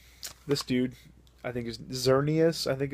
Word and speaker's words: Xerneas: dude i think is xerneas i think it's exornius i think is how you uh pronounce that and he or he